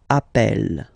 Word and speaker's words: appelle: and then you get a double consonant, and well, they are the same, then it does change the pronunciation of E. You tend to pronounce it like really open. That's the reason why you pronounce it appel, okay?